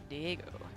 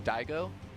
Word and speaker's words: Diego: swam across every sea, it is Kelazhur, aka Diego Swimmer, aka Schwimmer. Diego's such a cool name, you know, Diego.